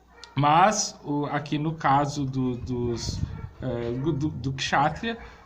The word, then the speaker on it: Kshatriya: Dessa forma ele se desenvolve muito e chega então a um nível que na Índia é chamado de Kshatriya. Kshatriya se escreve com K, ok?